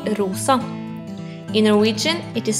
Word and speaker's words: rosa: pink in Norwegian the color pink is called rosa in Norwegian it is spelled r o s a try it rosa This is the color black